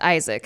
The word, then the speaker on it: Aizik: It's spelled Aizik. Oh, that's not classic at all. But it's a new Isaac. He says pronounced Isaac.